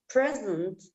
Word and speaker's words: presents: Okay, in Western countries, it is common to give presents to your loved ones on Christmas.